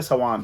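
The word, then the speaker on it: Samhain: सवान भी कहते थे सवान एस ए डब्ल्यू ए एन नहीं सवान की जो बेसिकली स्पेलिंग है वो है एस ए एम एच ए आई एन इसको सम हैन है लेकिन इसको पढ़ते सवान है फिर जैसे-जैसे वक्त गुजरता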